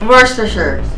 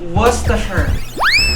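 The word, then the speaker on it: Worcestershire: worse worster Shar versus the Sha Cha ch worster Shar so ang tamang pronunciation ay waser Sher worster ang bonus round natin ay 10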